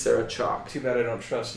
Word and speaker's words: Chalke: It says, actress Sarah Chalke pronounced it just like the chalk you use on a chalkboard, on a blackboard. Really? It's Sarah Chalke.